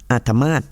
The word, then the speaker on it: อาทมาฏ: อา ทมาต นะ คะ สะกด อ่าง เนื้อ สอา แถว ทหาร มอ ม้า สระ อา ต่อ ปฏัติ อาทมาฏ นะ ไม่ เร็ว ๆ นี้